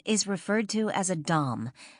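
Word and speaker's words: domme: Generally, a female dominant is referred to as a dom, spelled differently but pronounced the same way as dom, though some people will say dame.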